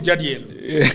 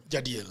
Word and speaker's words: Jadil: You don't separate the J and the D. Jadil.